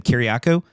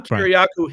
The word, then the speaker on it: Kiriakou: I think you pronounce his name Kiriakou.